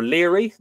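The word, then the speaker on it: Lóegaire: Each then asked tidings of the other, namely Patrick and Lyra, or Leary. You'll hear a very anglicised pronunciation of Lyra.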